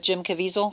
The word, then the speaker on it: Jim Caviezel: The actor, and I never know how to pronounce it, is it Jim Caviezel?